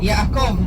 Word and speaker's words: Yaakov: How do you pronounce Jacob in Hebrew? Yaakov.